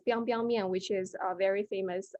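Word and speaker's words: biangbiang mian: So this is actually pronounced as biang biang mian, which is a very famous noodle in northern China.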